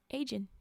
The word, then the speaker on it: Eigen: I think it's Eigen weapon? Eigen weapon? EIGEN weapon. All one word. Anyway, Agen.